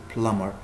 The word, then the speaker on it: plumber: the plumber plumber so the B is silent here the B is silent so say plumber someone who fixes the